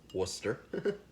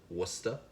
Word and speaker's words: Worcestershire: Probably the only person here in Florida that can pronounce that right. Worcester. Worcester.